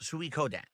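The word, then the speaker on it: Suikoden: uh actual four uh syllables. Sui Kodan.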